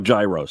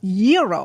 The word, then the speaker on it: gyro: in line at Papa Gyros I order the gyro Supreme suddenly the lady behind me chimes in it's pronounced Euro then the fellow behind her says it's a gyro I turn my back